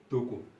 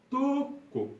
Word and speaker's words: toko: If there is only one vowel, the pronunciation is shortened.